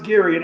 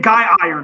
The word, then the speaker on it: Girion: It was Girion and pronounced correctly as well. I was saying Guy Iron in my head.